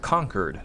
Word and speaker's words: Concord: They pronounce Concord as conquered.